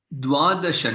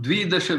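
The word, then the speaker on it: द्वादश: And Banu Mahodaya, this Dwadasha, not Dvidasha, we don't say here. Dwadasha.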